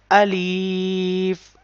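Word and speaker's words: ألف: pronouncing this letter alif so the point of pronunciation of alif is emptiness of the mouth so how look when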